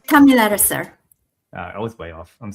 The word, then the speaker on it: Thamilaraser: How do you pronounce her name? Thamilaraser.